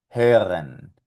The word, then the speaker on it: hören: Por lo tanto saldría algo así, mira, forma de O y sonido de E. E, E, E. Y aquí vamos a pronunciar estas palabras con esta técnica. Österreich, hören, Löffel.